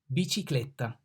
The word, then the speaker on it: bicicletta: B, bicicletta. The B pronounced like B in banana. B, banana. Ba, B, bicicletta. C, ciclone.